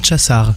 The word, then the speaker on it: Csasár: Exactement. Bien prononcé. Ça se prononce Csasár.